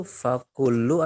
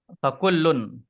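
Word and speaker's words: فكلٌّ: Izin bertanya Ustaz, tadi yang ciri-ciri isim yang al-awwalu itu fakullu atau fakulun Ustaz bacanya? Fakullun. Jadi setiap Tanwin isim, setiap isim yang kemudian setelahnya ada huruf jar pasti dibaca dengan tanwin.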